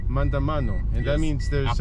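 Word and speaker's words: maandamano: Mandamano. Mandamano.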